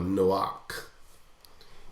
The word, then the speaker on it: Noah: until the day that Noah entered into the ark, or Noach, if you want to pronounce it the Hebrew way, and knew not until the flood came and took them all away.